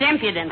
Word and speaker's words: impudence: hair she's too imputed that's impudence with the emphasis on the second syllable daughter Hello Johnny where's